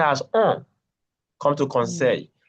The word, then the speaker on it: conseil: conseil, the ILL is pronounced as yi. Oui. Conseil.